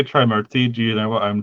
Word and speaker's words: Trimurti: Is it TRI MRKTI? Mrkti. Yeah. I realize I'm clearly not pronouncing it very clearly. It's Murti. Oh, Trimurti. Okay. I thought it was gonna be a syllable like mur, Murti. Trimurti. Because in Hindi that would end up Mriti.